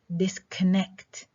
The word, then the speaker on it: disconnect: and strong stress tamam sometimes two strong stresses two strong stresses especially in words with contrastive prefixes contrastive prefixes prefix disconnect disconnect disconnect tamar is